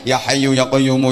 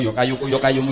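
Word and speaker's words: يا حي يا قيوم: Harusnya kan ya hayyu ya qayyumu, ya hayyu ya qayyumu, ya hayyu ya qayyumu, ya hayyu ya qayyumu. Tapi bacanya yo kayuku yo kayumu, yo kayuku yo kayumu, yo kayuku yo kayumu.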